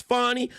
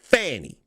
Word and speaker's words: Fannie: And I don't give a damn how many times she say it's Fonnie. I don't give a damn how many times you say it's Fonnie. I know how to pronounce words. That is spelled Fannie.